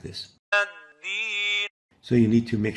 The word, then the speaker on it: الدين: الدين So you need to make sure not to mix the dal with the ta.